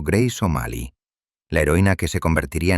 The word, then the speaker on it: Grace O'Malley: Fue exactamente en este entorno implacable donde nació Grace O'Malley, pronunciado Grace O'Malley, la heroína que se convertiría en la peor pesadilla de la corona británica.